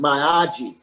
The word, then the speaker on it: Miyagi: Pat Mirares, he starred as Miyagi, I believe it's the way that Chinese name is pronounced, Miyagi.